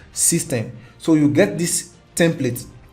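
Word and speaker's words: systeme.io: case may be but it is called system s y s y s t e n e dot i o but it is pronounced system so you get this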